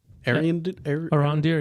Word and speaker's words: Arondir: I always pronounce his name wrong. Is it Arondir? Arondir, yeah.